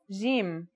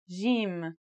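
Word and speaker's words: جيم: our first letter is Jim this one is easy to pronounce it's somewhere between a g and a j depending on the accent for example Standard Arabic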